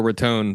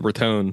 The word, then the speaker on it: Raton: The bandwidth in Boca Raton, by the way, pronounced Raton, not Raton.